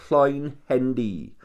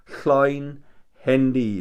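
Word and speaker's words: Llwynhendy: It was in a place called Llawn Hendy. Llawn Hendy.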